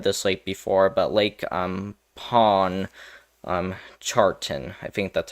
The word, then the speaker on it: Pontchartrain: haven't heard of this lake before, but Lake Pontchartrain, I think that's how you say it, Lake Pontchartrain.